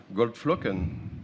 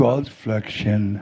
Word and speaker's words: Goldflocken: You did Goldflocken with him. Do you remember? Goldflöckchen. Goldflocken, bitte. Not Froschen.